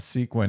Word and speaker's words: sequin: It sounds like the word sequence, like a sequence of numbers.